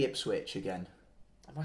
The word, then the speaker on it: Ipswich: Say Ipswich again. Am I saying it wrong again? You keep saying Ipswich. Ipswich. You say Ipswich with a G.